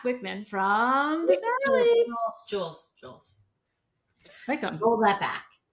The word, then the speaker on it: Wickham: But it is Wickham.